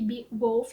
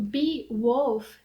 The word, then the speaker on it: Beowulf: deixei aqui para vocês, mas na oralidade ele também tem o sentido de bee, que é abelha, e de wolf, que é lobo.